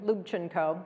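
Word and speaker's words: Lubchenco: The Story begins uh my last name is Ukrainian lubino many people have trouble saying luino and in fact Simon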